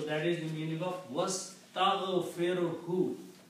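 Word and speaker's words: وَاسْتَغْفِرْ: You have to pronounce fir very clearly. Sukoon, otherwise the meaning will become something else.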